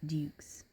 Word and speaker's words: Duke's: I understand that it's Dukes, but you say Dukes. Kind of throw a Y in there.